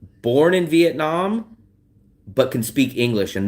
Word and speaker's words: Vietnam: I'll hear them say vit Vietnam. And I'm like, where's the e? They'll say vitnam. I never hear them say viet like vietjet vietjet Vietnam. Locals will say vit. They'll leave out the e.